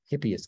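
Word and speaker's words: Hippeas: cheetos that's another suggestion the hippie is i h i p p e a s that's how you pronounce it chickpea i think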